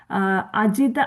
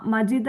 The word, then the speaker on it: അജിത: ഇവിടെ രണ്ടു കാര്യങ്ങൾ ശ്രദ്ധിക്കണം അജിത ആലോചിതം അജിതയാണ് മജിത എന്നുള്ള ഒരു ഉച്ചാരണം വരാതെ സൂക്ഷിച്ചാൽ മതി ആലോചിതം ജിത അതുപോലെ മയാനൈവം